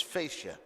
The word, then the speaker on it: fascia: The way it's pronounced by the professionals is fascia.